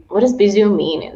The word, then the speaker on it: Bisous: Bisous.Suziki, and it's actually pronounced Bisou, and you've done a great job, by the way.